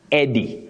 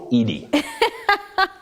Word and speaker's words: Eddie: like this name it's just Eddie not idy thank you will thank